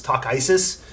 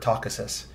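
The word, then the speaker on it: Takhisis: the army of of takasisus or takesis or how did the audiobook pronounce it tracy do you remember i feel like they leaned heavily into the isis like it was talk isis um which is a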